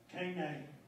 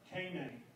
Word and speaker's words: Kainai: When you get down into our area, the Piegans and northern Blackfeet people of southern Alberta, then they say Kainai, Kainai. So K-A-I-N-A-A is how they say it down there.